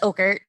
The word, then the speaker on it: Ockert: Is it Ockert or Ockert? Do I say it wrong? No, it's Ockert.